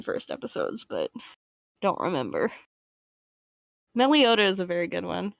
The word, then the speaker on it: Meloetta: Meliota is a very good one. At least I believe it's pronounced Meliota.